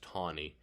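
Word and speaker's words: Taney: man named roger tawny spelled t-a-n-e-y but pronounced tawny uh uh i mean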